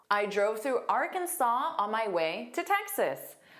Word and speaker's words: Arkansas: The pronunciation is Arkansas. Arkansas, which does not look like the spelling. So notice that silent s, the very last s is silent. So it's saw. Saw just like the past simple of c. Saw. And that middle sound is unstressed as well. So it's kin kin kinsaw. Kinsaw Arkansas.